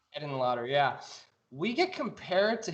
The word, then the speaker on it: Henenlotter: Is it pronounced Hedenlotter? Is that Frank Henenlotter? Yes, sir. Henenlotter.